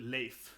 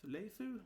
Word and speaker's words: Leif: So that's how you say it, Leif. Yeah, and I was like, how do they say here? Leifu? Whatever, yeah, Leif.